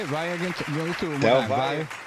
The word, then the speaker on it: Del Valle: Del Valle. Del Valle.